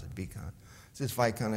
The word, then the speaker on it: Vikan: I pronounce it Vikan.